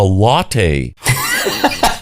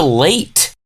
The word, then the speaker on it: latte: the is a latte you're like pronouncing it wrong you're like what is a late yeah seriously did you